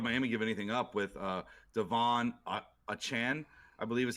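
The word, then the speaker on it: Achane: Well, why would Miami give anything up with Devon Achan, I believe is how he wants his name pronounced now.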